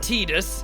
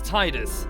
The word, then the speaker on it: Tidus: not seen it's sin it's not tedious it's Titus it's not spera it's Spira it's only tight it's only tedious if you can't pronounce it properly it's clearly Titus we don't say it